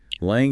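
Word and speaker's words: langue: So lang first pronounced lang almost like song but with a soft nasal in okay lang what is it?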